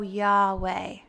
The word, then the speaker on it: Yahweh: family uses it so yahweh now i take this two-syllable word and use it with my breath so inhale yeah exhale way i almost view it